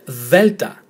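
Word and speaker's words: δέλτα: But if you see the letter delta, it's pronounced the, as in there and then.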